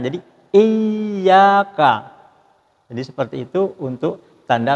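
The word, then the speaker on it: إِيَّاكَ: Nah, sedangkan ini yang tanda bacanya di atas ya, Iyyaka. Jadi, ditahan sejenak dan agak ditekan. Jadi, Iyyaka.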